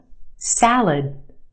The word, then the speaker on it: salad: in that word salad if you said the first syllable you're right the a sound in the first syllable salad the second syllable is our schwa it said very quickly